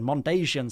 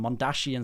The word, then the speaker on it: Mondasian: Way back in one of my first videos, I accidentally said Mondasian Cybermen rather than Mondashian Cybermen.